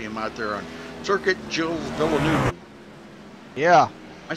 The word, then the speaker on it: Gilles: It looks like I would pronounce it Galaise. Galaise. Yeah, Galaise Villeneuve, but it's not Gilles. Gilles, yes. The G sounds like a J.